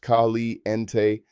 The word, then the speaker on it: caliente: Hot referring to temperature is caliente pronounced khali ente.